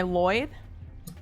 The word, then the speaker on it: Liod: My it's my Lloyd. Mm-hmm. It's spelled Liod.